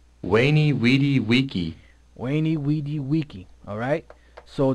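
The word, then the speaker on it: Veni, vidi, vici: so to speak, that Weni Weedy Wiki. that Julius Caesar said, you notice that all the V's are pronounced, when the guy reads it, they're not pronounced as V's. Weni Weedy Wiki.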